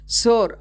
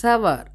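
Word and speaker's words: sour: சோர் அப்படி சொல்லக்கூடாது, சவர் அப்படி தான் ப்ரொனவுன்ஸ் பண்ணணும். புரியுதுங்களா உங்களுக்கு?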